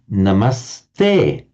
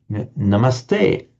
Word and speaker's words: namaste: mentioned down here that if the following word begins with a t the s remains that's why you have this lovely Hindu greeting namaste namaste namast to thee homage to to to to thee.